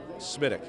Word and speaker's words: SMWDC: How, sir, should people refer to your command? SMITIC.